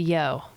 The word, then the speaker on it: Yough: But they call it the Yough Yeah. River. Yeah, it's called the Yough. Or is Anyway. it the Yag? No. It's the There's Yough. no hard G noises in the abbreviated But there isn't a version.